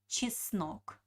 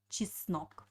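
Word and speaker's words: чеснок: reap look uh okay uh next word is cheese knock cheese snook cheese snook means garlic cheese snook uh pay attention on uh the pronunciation of the letter yeah i don't pronounce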